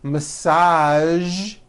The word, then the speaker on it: massage: television very good now there are only a few words that have the voiced sound at the end a few of these words are the color beige the word massage and the word pristine